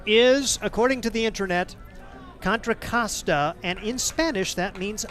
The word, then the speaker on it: Contra Costa: And the official pronunciation is according to the internet contracasta.